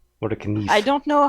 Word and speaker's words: Mora kniv: Actually, I'm pretty sure in Swedish that would be pronounced kniv. Actually, no, it's David, so it'd be David kniv. Says Mora kniv. Mora kniv.